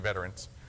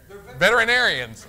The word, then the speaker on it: veterinarians: want to call you veterans what are you veterinarians I got I had a add a syllable that's a dip thong